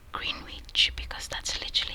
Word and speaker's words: Greenwich: So it's Greenwich. I would say Greenwich because that's literally how it's like written.